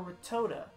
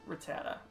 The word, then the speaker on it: Rattata: Albert sent out retired Rattata or were toda I don't think anyone pronounces it the last way we're gonna say rat Rattata Brett Rattata sorry I